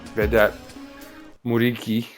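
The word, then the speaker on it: Vedat Muriqi: right, Max Cruz behind, Vedat Murici. Well, I don't know how to pronounce that, but Muric, I don't know, whatever. Yeah, they say Vedat Muric is how they pronounce it.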